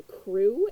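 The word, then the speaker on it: krewe: because of every parade which is called a crew and crew is spelled with a k k r e w which is kind of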